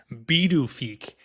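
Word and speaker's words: Pituffik: So it was renamed to, I'm going to say it how it's spelled, Pidufik, but it's pronounced Bidufik.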